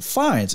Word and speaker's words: Fiennes: name is easy, but how do you, like, is it Fiennes? Is it Fiennes? I don't know how to pronounce the last name. Fiennes. It's Ralph Fiennes.